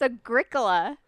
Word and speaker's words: Agricola: is it Hagrid Colio are you Kolya it's Agricola negra Cola like it's use not just say